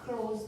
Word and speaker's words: close: 자, 이게 이렇게 발음 열도가 있거든요. 그래서 그 L에 신경 써주시고 혀를 붙여야 돼요. close. 이 R은 무조건 혀가 위에 닿으면 안 되는 거고요.